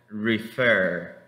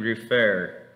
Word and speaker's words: refer: La pronunciación de esta palabra sería refer, refer, ven, refer. Okay.